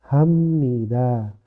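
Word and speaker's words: 합니다: ibnida bacanya jadi imnida habnida jadinya Hamnida abmun jadinya ammun seperti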